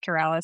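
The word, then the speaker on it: QurAlis: Well, I I actually got to speak with a couple of executives from Curales, which is an awesome name, by the way. They're it's pronounced Keralis, but they're trying to cure ALS, which is I think it's really cool.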